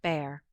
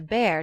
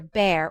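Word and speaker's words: Bhaer: at his horrid name it isn't pronounced either bear or a beer as people will say it but something between the two as only Germans can give it I'm glad you both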